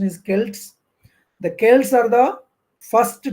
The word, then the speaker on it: Celt: c s JV you should remember this term selt or we we pronounce it as kelt Kels generally the pronunciation is Kelts the Kels are the first tribes first of